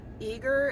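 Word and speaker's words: Eagar: here in e i I think it's pronounced eager it's it's spelled eag with an A but um a blue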